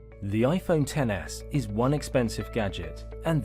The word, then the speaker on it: iPhone XS: let's get it clear it is pronounced iPhone 10s and not XS clear-rite Apple unapologetically prices